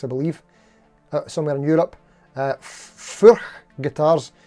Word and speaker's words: Furch: I've been trying to figure out whether it's pronounced Furch or Furch, but apparently it's like Thurs.